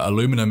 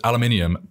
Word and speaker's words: aluminium: right how about aluminum so aluminum is aluminium but we do spell it differently as well so we uh we put a an actual u in there we do for a few different words so it's one of those that's said differently we say aluminium but we also spell